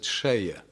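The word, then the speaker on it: Selye: The guy who invented the word stress, this was some Hungarian, Austrian, he's written Celje, but I understand Hungarians pronounce it Seje.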